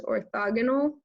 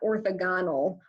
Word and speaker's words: orthogonal: If we were in class, I would implore you to please, please, please pronounce it correctly, that this is orthogonal, not orthogonal or something like that.